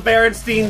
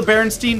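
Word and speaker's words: Berenstain: Like there was an animated adventures and they were I swear to God they were pronounced the Baronstein Bears because they were they were pronounced the Baronstein Bears.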